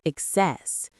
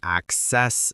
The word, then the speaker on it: access: In American English, the stress can move depending on the part of speech, just like abstract. As a noun, it's access, and as a verb, it's excess. But in British English, the stress stays on the first syllable regardless of whether it's a noun or a verb.